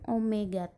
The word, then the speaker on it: omega: Omega itu yang W tapi bentuknya bukan W ya, itu adalah omega bacanya.